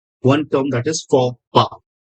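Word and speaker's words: faux pas: one term that is forpa f a u x p a x but the pronunciation is pa it is p a sa p forpa means a cultural mistake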